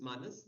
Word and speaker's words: Manus: term no so um it's called as Manus like man but what's the in